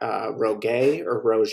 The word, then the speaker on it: Roggae: And then we got Rogay, depending on, you know, I guess what part of the country you're in or how you would like to pronounce it. You know, you can pronounce it however you want to.